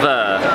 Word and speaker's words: Veurre: Veurre. Like Veurre in French. I love. With a V.